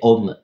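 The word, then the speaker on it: Aum: Donc c'est génial, tu peux le faire ça de temps en temps, tu fais ton Om, Om, c'est Om, A-U-M. Ça s'écrit A-U-M, mais on prononce O-M, Om.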